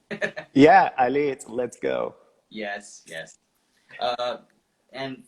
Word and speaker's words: allez: Yeah, allez, let's go.